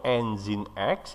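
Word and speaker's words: nginx: dalam Azmi ini diantaranya satu G2 angin atau engine X ya nulisnya minggu lebih bacanya engine.exe Ya tiga my SQL FTP file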